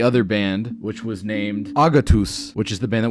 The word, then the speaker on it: Agatus: This week, it's another Greek band called Agatus. And yes, that is how it's pronounced.